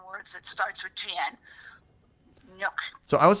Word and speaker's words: gnocchi: Oh, gnocchi. Gnocchi. Okay. Gnocchi. The GN is a ny sound. Gnocchi. There's a whole bunch of other Italian words that starts with GN. Gnocchi.